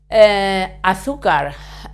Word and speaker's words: azúcar: Azúcar, we stress this syllable because it has a written accent.